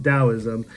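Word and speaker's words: Taoism: but this is actually the wrong translation it's pronounced Daoism and it comes from ancient Chinese philosophy and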